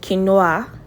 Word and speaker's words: quinoa: It's not quinoa. It's quinoa. Okay, let's say it one more time.